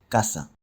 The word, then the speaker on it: casa: Before a vowel, the s sound is generally fully pronounced. Casa.